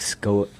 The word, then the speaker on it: Scoville: How do you actually say it? That's a polarized. It's Scoville heat unit. Scoville.